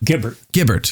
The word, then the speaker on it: Guibert: Tell us about Peter Guibert. Guibert, excuse me. It's natural to mispronounce the name.